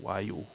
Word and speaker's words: Voyou: It was better than the other one, whose name is Voyou, pronounced Wayu, which means gangster in English.